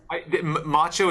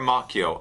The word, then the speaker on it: Moccio: Macho is the correct way in Italian. So Macho? macho or macchio, either one.